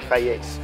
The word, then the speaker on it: Hiace: Y por eso se pronuncia Hi-Ace. Hi-Ace, que significa alto experto.